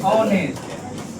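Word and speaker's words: honest: में पढ़ते हो ना ऑनेस्ट। ऑनेस्ट का मतलब क्या है, H लिखना चाहिए, ONEST होना चाहिए, लेकिन H लिखाता है ना, H कौन सी होता है साइलेंट।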